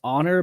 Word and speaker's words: Xonor: Actually, if you look up, it's pronounced Honor, but it's spelled Xonor.